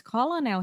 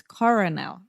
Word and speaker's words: colonel: It's so hard because colonel here is with L, and I'm reading, so it's coronel, right? Colonel. Colonel Sanders.